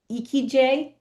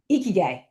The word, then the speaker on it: Ikigai: You and I practiced the pronunciation of this Japanese concept. I'm going to try and say it right. Ikigai.